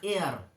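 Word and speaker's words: heir: উত্তরাধিকারী উত্তরাধিকারী এটাকে বলে এয়ার হেয়ার বলবে না কিন্তু এইচ ই আই আর হেয়ার বলবে না এয়ার আর তার স্ত্রীলিঙ্গ মানে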